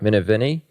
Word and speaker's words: Minervini: already kind of mentioned, Mark, how do I pronounce his last name? Minervini? Mark Minervini?